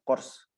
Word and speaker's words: CORS: Cross Origin Resource Sharing atau CORS gitu ya, CORS. Dibacanya CORS.